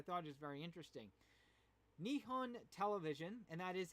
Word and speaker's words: Nihon: it because i thought it was very interesting nihon television and that is how you properly pronounce it announced a new tv drama based